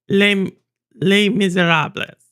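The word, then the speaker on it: Les Misérables: Because I don't pronounce the S. Les Miserables.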